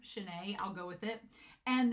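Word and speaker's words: Shinei: And then as far as Shanae, it's supposed to be Shanae is how you say his name. Shanae, I'll go with it.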